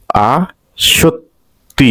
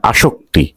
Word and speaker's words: আসক্তি: আস্রম উচ্চারণ হচ্ছে আস্রম আসক্তি আস শক্তি না আসক্তি আসক্তি তার মানে আ শক্তি আসক্তি আহ্বান অর্থাৎ উচ্চারণ আউ